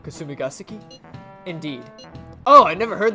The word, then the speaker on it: Kasumigaseki: Kasumigaseki? I think that's how you say it. Kasumigaseki?